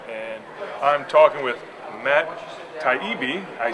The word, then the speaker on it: Taibbi: work boat show and I'm talking with Matt taibi I said it right it was the contributing